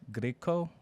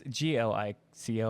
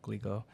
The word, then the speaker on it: Glico: candy company, I think it's pronounced Griko, which is like, I think they're the Pocky people. Yeah, he was kidnapped from his own home. It's Glico. I'm trying to say it correctly. Glico.